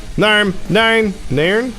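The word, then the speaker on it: Nairn: Narn. Hey Google, how do you pronounce the town in Scotland spelled N-A-I-R-N?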